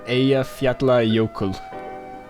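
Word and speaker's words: Eyjafjallajökull: Coincidentally enough, Eyjafjallajokull. Actually, pretty good. Oh, thank you. Your friend must be happy with that. It's the ending part apparently, because 2 L's in Icelandic, don't they make that weird noise?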